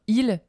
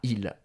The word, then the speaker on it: il: Donc en fait, quand on parle vite, on dit i et pas il. On supprime le L.